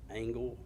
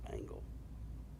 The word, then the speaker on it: Angel: s h a uh the last name is pronounced angle but spelled like Angel a n g e l but it's pronounced angle in the day of